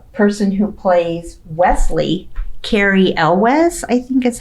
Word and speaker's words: Elwes: Yeah, and then afterwards, the person who plays Wesley, Carrie Elwes, I think is how you say his name. Yep. Elwes, yeah.